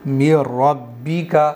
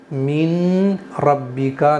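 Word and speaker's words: مِن رَبِّكَ: और गुना भी करेंगे तो इसको कैसे पढ़ेंगे मि रब्बी का इसको अब हम मीन रब्बिका नहीं पढ़ेंगे। नून को फुल साइलेंट कर देंगे।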